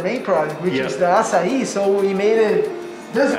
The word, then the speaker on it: açaí: People sometimes don't know how to pronounce our main product, which is the açaí, so we made it this way.